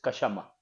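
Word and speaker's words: क्षमा: hablaba no en sánscrito es kashama kashama se escribe k s h a m a kashama Qué significa en sánscrito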